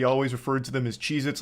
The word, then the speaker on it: Cheez-It: Cheez-Its. I And I'm still saying it wrong. Cheez-Its never existed. They have always been Cheez-It, not plural.